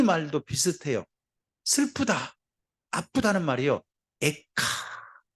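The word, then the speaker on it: איכה: 에카. 발음이 이래요.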